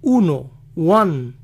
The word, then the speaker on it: Juan: oye así joaquín joaquín juan juan así que para los que se llaman juan si alguna vez oyen que alguien dice uno wang posiblemente los están llamando pues suena casi igual centro buffet y el nombre